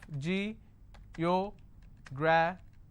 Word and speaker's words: geographical: ICAL. Geographical. How many syllables do I have? Geographical. Now this fickle is coming up to 2 syllables, right? But this will still be combined as word ending, and this is the stress.